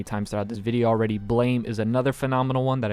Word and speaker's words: Blame!: Now I know somebody's already probably commented it, and I know it's also, I'm pretty sure the actual pronunciation is Blam. There's an E there, I'm sorry. It's Blame with an exclamation point.